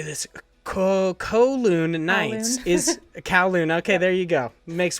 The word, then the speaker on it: Kowloon: It is written by Kate Gray, and it is, I don't know how to say this, Kowloon Nights is Kowloon.